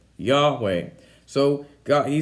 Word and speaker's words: Yahweh: The Hebrew name that is actually it's unclear as to what the correct pronunciation of the name is according to Hebrew scholars, but it's most commonly pronounced Yahweh. Yahweh.